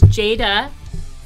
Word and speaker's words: Jada: Yes, it's Jada. You know, like Jada Pinkett Smith. Give you that. That's pretty easy to remember. I didn't enunciate your name very well. It's two syllables.